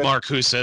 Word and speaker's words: Marcuse: tolerance by harvard marcus i might be saying that name wrong but i'll kick it herbert marcusa that's right cool marcusa it's it's a little bit i guess it's not a hard z sound but it's a little more like that because in